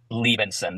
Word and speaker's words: Liebensohn: is your last name it's pronounced Levinson the H is silence okay Benson okay so quick introduction